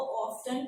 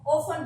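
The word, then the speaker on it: often: तो अब जो है इसको in both way वी can pronounce. ओफन भी ये ठीक है और अगर हम इसको टी के साथ पढ़ते हैं तो भी ये ओके है, ठीक है। ये बोथ वे में ओके है, पढ़ा जा सकता है।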